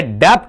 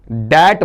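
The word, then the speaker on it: debt: ये डेप्ट नहीं बोलेंगे जो आज तक आप बोलते आए। इसे क्या बोलेंगे बताइए? आपका दैट बोला जाएगा।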